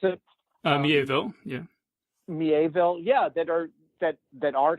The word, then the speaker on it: Miéville: There are writers like China Miéville, that's how you pronounce it? Miéville, yeah.